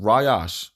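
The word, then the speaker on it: ראש: The word chief in the ancient is Rayash, right? It's Rayash or Rayash, right? It's pronounced Rayash, right?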